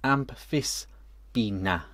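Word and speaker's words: Amphisbaena: Richard Davies says the Aspina is pronounced Amphispina.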